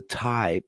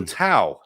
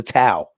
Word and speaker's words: Tao: right and i'm gonna name it the the thai i i don't know how to pronounce that word i wish i did um the tao the tao okay thank you thank you that's what i